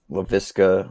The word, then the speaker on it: Laviska: It's very simple. Laviska. It's like exactly how it's spelled out.